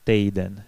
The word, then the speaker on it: týden: Однако в разговорной речи здесь встречается дифтонг 'ej'. А чехи часто говорят не «týden» (неделя), а « tejden», не «brýle» (очки), а « брейле».